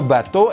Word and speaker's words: bateau: Nah ini EAU adalah O ke atas seperti O gitu. Saya sudah menerangkan kombinasi EAU ini di teori pelafalan di video itu, silahkan ditonton itu. Kapalnya cepat, maka le bateau est rapide.